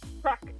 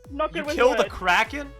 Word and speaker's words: kraken: you killed uh what it was a crack crack i pronounced it wrong the first time okay uh kraken it was a group